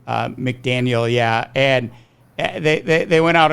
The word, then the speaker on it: McDaniel: God, I pronounce his name right. McDaniel, yeah.